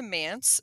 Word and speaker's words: MANTS: it back over to mans so to let our listeners know it does rhyme with pants m- an TS and it's the midatlantic